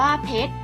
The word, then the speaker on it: เพชร: เป็น ตัว สะกด เช่น เพชร อ่าน ว่า เพชร ซื้อ ชาย ช้าง กับ ปะ เรือ เป็น ตัว สะกด ค่ะ บุตร อ่าน ว่า บุตร